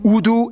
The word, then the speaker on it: Urdu: used as lingua francas, Urdu and English. Yeah, that's right, it's pronounced Urdu, not Urdu.